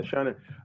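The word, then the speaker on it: shōnen: Shonen, is that how it's pronounced? Yes. Yeah, Shonen.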